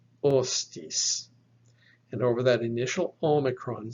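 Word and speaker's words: ὅστις: iota and then terminal sigma so this is pronounced ostis ostis and over that initial omicron since this word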